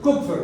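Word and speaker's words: Kupffer: Las células que están en el hígado, que el apellido es Kupfer, ¿verdad? Que es cobre en alemán. Entonces se dice Kupfer, ¿verdad? Ahora, si está en Estados Unidos, es correcto, le van a decir Kupfer, ¿verdad?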